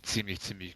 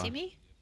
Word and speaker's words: ziemlich: It would be ziemlich gut. Das ist wie immer... Simi? Nee, ziemlich, aber fucking never mind.